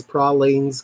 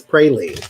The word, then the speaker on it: pralines: time I said it it's not pralines it's prolly n--'s cuz that's the way it's spelled or something i'm like nobody in the South says problems get the hell away from me okay it's brain Lee okay pralines and cream that's